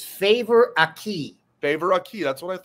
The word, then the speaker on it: Favour: It's Favour Akih. Favour Akih. That's what I thought. Okay, Favour Akih. All right, he is the number 14, committed to Ohio State yesterday. Favour Akih, local kid, Delaware Hayes.